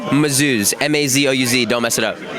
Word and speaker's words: Mazouz: David, it's spelled like David. A. Mazouz.